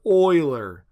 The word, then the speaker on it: Euler: their circuits first off that's pronounced Euler not or if you say it wrong three times he visits you while you sleep so don't do